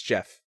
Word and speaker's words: Geoff: __ ] no it's Jeff Jeff wait so g-e off spells Jeff yes no yes no